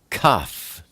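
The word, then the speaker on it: כ: Next, we look at Kaf. Kaf is the number 20, and it's pronounced K, like kind.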